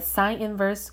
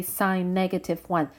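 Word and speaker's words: sin⁻¹: it's spelled out a sine inverse cosine inverse tangent inverse and please do not say sign negative one that's different from sine inverse this stands for sine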